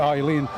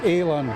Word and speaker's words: Aileen Dew: again from lion tower they keep pronouncing eileen it's actually alan alan dew it's scott's garlic is